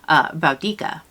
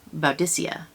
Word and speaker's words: Boudicca: how this was pronounced, because some historians say that when she was alive, that the Latin language did not have a soft C. They only had a hard C. So it would be pronounced Boudica. However, some historians say that there was a soft C at the time and that it is pronounced Boudicca.